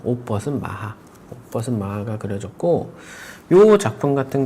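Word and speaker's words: Maja: 그때도 잠깐 이야기를 하기는 했지만 어, 여기 이게 음버은 마하라고 해요. 마하. 그러니까 스펠링은 이제 영어식으로 발음하면 마자예요. 맞아. 근데 J가 스페 스페니시로 H로 읽히니까 마하 마라고 하면 되는데 어 이게음 5번 마하라는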